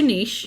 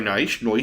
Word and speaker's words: Naish: Thanks, Larry, for having a pronounceable name. He's the No offense to Niche. Right, Niche, nice. Sorry, Noish.